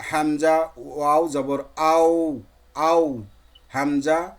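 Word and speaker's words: همزة: পরবর্তী আমাদের একটা লেটার রয়েছে হামজা, হলকের বা কন্ট্রোলের শুরু থেকে, যে হামজা, হা, হাটা পড়লাম আমরা একই মাখরাজ যেটার। এই হামজাটাও কোথা থেকে? হলকের কন্ট্রোলারের শুরু থেকে, হামজা, হামজা, হামজা উচ্চারণিত হয়।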